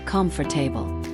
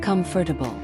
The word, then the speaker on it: comfortable: A lot of people say comfortable, but the correct way is comfortable.